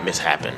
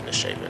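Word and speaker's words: Mishapen: Misshapen is spelled with two S's, but it's like, it's not Mishappen, it's Misshapen. I don't know how the fuck you confuse it with Mishappen, but yeah, Misshapen, yeah.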